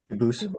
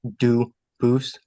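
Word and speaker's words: Dubois: exact spelling in America they do pronounce it dubis but you said you pronounce it duus as the original do Boose as the original French French yep very well Duo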